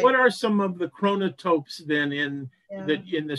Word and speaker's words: chronotope: So chronotope is spelled ch H r o n o t o p e. Um so think of chronology or kronos.